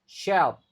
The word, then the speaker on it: shelf: Ini juga sh kan, jadi sh sangat-sangat sering dibaca sy. Shelf. Jadi h-nya silent.